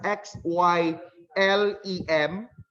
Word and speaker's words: xylem: just like the part of implant spelled as x y l e m how do we pronounce that x y l e m we